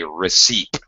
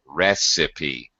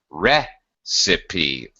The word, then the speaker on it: recipe: silent in English however in this case we actually pronounce the e as a separate syllable recipe recipe first syllable stress okay